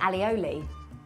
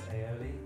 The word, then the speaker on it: aioli: Okay, I say alioli. Again wrong. Is it? How do you say it, Chris? Like garlic mayo? I think it's aioli. Alioli? Aioli. There's no double L.